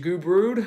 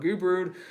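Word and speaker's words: Gubrud: his name is gage goo brood I believe I'm pronouncing that last name correctly it's not good or SS herself somebody say once but goo brood coming in for Gardner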